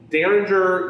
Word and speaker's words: Derringer: started it all between kabe and heather so derringer if you look at the way this is spelled it's spelled dare rare we call it